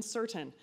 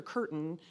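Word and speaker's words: Cirtain: Jonathan certain and I'm certain that's how you pronounce his last name because I asked him at least four times after mispronouncing has made his name and calling him doctor Curtin several times before he graciously and politely corrected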